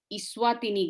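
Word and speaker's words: Eswatini: Country का नाम actually इस्वातिनी रखेंगे, ठीक है। ई स्मॉल है लेकिन वो अब उसको प्रोनाउंसिएशन में इस्वातिनी हो जाता है। एक्चुअली स्वातिनी होगा, ई स्मॉल है लेकिन वो इस्वातिनी हो गया।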